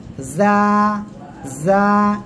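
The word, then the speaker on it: زاي: জা জা। জিজিবকা যেমন ডাকে এরকম উচ্চারণ। এই যে আওয়াজটা পাচ্ছেন, জিহ্বার আগা, সামনের নিচে 2 দাঁতের পেটও আগার সঙ্গে লাগাবেন, লাগিয়ে উচ্চারণ করবেন জা।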